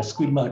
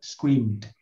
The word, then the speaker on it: screamed: Nào chữ này không phải là screamer, đọc là scream sau đấy thêm d thôi. Screamed.